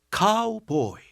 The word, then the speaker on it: 카우보이: 카우보이.이 카에서 우로 빠질 때 약간의 바람 빠지는 소리 히읗 발음이 들어가는데이 히이 결정적이었어.